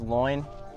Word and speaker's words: Loynd: Dugout I like it my last name is people pronounced as loin and just growing up